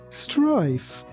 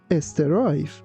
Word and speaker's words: strife: Again, be careful not to say estive. It's strife. Strife.